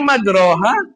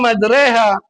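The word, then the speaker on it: مجراها: Tulisannya madraha dibacanya madreha. Oh, ternyata madrehah itu ee di dalam tajwid itu masuk dalam imalah. Apa imalah? Imalah itu itulah di yang har geser jadi ke I gitu tengah-tengah majraha jadi madreha bukan majriha gitu.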